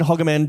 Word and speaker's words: Hogeman: Real pronunciation, Hogeman, just like Pokemon.